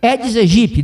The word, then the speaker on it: Aedes aegypti: A pronúncia do mosquito é Aedes aegypti, não Aedes aegypti. A letra A desprezada não é pronunciada porque é latim.